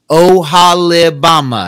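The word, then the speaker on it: Oholibamah: in here the ohalabama I mean how else do you pronounce that I don't know if I'm doing it right but o h o l i b a m a h o Hale Obama It's gotta be right I mean yeah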